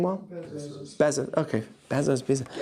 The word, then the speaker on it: Bezos: They asked him, did I pronounce his name well? Bezos. Okay, Bezos.